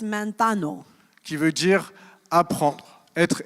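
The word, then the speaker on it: μανθάνω: It comes from a Greek word manthetes, qui vient du verbe manphano, which is based on a verb pronounced manthano.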